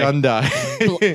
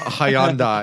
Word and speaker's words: Hyundai: They had a whole campaign about how it rhymes with Sunday, Pat. Yeah, I know. Hyundai.